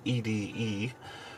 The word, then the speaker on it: ED-E: year we're working on ede from the new vegas companions or eddie depending on how you want to pronounce it he's a fairly